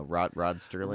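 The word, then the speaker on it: Serling: No, Rod Sterling. Rod Sterling, 2 D's and a T. With 2 D's. And a T. Yeah, you pronounce the T because there is.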